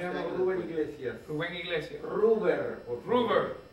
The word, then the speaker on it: Ruber: Ruber. Ruber. Ruber, no. Ruber Iglesias. ¿Cómo se escribe? R-U-B. R-U-B, era rojo en latín, cosas de mi padre.